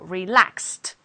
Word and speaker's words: relaxed: we have relaxed because relax ends in s so relaxed with a t the verb B ends